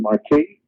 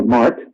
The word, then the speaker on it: marque: Etc and to Grant letters of Marquee or Mark actually is how you say it okay of Mark I used to say Mar to drive my professor's mouth L have the right